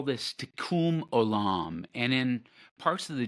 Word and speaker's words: Tikkun olam: And so this Hebrew phrase, and I'll let you pronounce it, it is Tikkun olam. Tikkun olam.